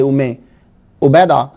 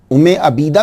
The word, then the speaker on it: उम्मे उबैदा: इसको प्रोनाउंसिएशन इसका जो है वो उम्मे अबीदा भी एक जगह मैंने पढ़ा है। आपके ख़ानदान के एक चश्मो चिराग हैं, उन्होंने एक किताब लिखी है, उसमें उन्होंने ABEED जो है वो अबीदा इसे जो है प्रोनाउंस करा है, लेकिन उम्मे उबैदा जो है ये कुछ बेटर लगता है।